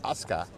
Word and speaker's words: Asuka: You know, if you write Asuka but you say Aska, then I wonder.